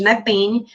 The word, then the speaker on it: NEPEN: Poderiam estar pronunciando de outra forma, a gente chama de NEPEN. Vai se tornar, o P mudo vai deixar de ser mudo, porque daqui a